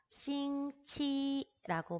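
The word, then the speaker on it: 星期: 싱치라고 발음을 하죠. 자, X라고 나와 있는 한화 병음의 성모는 우리말에 시옷으로 발음을 하시면 돼요.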